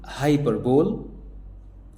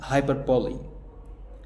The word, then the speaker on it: hyperbole: طب الكلمة التالتة دي معناها مبالغة، انطق كده، قلت هايبربول. هايبربول. لا، اسمها هايبربولي. هايبربولي.